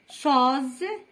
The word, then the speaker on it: chose: pause entre deux consonnes, deux voyelles, la consonne S entre deux voyelles. Pause, rose, cause, chose, on dit une chose.